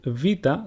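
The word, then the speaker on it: Βήτα: So, for example, Vita sounds exactly like the way the letter V is pronounced in the word vase.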